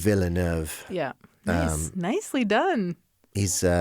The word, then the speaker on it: Villeneuve: And also his name's harder to pronounce than his first name. Villeneuve.